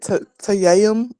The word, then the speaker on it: tayammum: Okay, so you know the how you said tayammum.